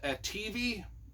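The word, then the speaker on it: atevi: these aliens on it called the ativi I think that's how you pronounce them a t e v i and they are kind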